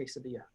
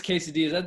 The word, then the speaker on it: quesadilla: forgot noah the uh you have to have the double l uh it makes the you are the worst all right so noah's quesadillas that's a solid that's